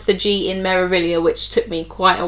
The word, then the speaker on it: Meraviglia: you can see the giant marilia spelt out on the side with a silent G you don't pronounce the G in marilia which took me quite